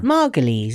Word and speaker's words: Margolyes: How do you pronounce your name? Margolyes.